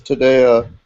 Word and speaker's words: Taddea: I think the emphasis is also on the second syllable for the first name, so it's Taddea Biche de Merlino.